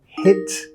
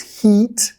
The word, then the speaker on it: hit: Y tenemos la misma pronunciación, hit, hit, hit. He, no es hit, más baja la mandíbula, hit, hit, hit.